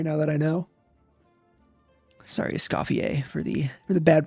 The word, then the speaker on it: Escoffier: I am Escafier, participier. Be mispronouncing that anymore now that I know. Sorry. Scofier for the for the bad pronunciation.